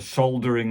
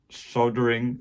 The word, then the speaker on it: solder: I'm from England, so we call it soldering, with a soldering iron with an L, not soldering.